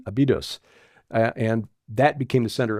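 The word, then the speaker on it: Abydos: the South to abidos actually the syllables on the second uh there's a abidos abidos and that became the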